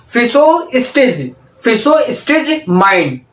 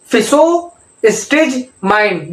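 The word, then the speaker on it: Physostigmine: हो रही है तो आप इसको टुकड़ों टुकड़ों में प्रोनाउंसिएट कीजिए। देखिए कैसे। फिसो, पहले बोलिए फिसो। ठीक है, फिसो बोल दिया। फिसो स्टेज माइंड। ठीक है, फिसो स्टेज माइंड।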